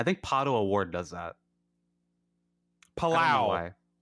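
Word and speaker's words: Palou: Palao. Palao. That's what it is. See, I don't even know what the fake pronunciation is.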